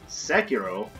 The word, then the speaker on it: Sekiro: If I had started off my morning playing, like, you know, Sekiro, I believe is how it should be pronounced.